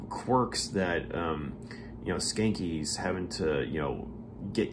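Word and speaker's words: Schanke: don skanky uh and his last name is spelt s-c-h-a-n-k-e so it um it sounds like skanky uh but it's spelled differently but uh skanky is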